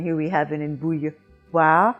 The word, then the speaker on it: bouilloire: You have it in moi, and here we have it in bouilloire, bouilloire, and it takes two phonetic symbols to make that sound, the W, which you think would be the W, and the A.